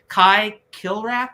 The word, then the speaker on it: Kai Kilrath: But Kai Kilrath, is that how you pronounce it? Yes, the Simian Space Samurai.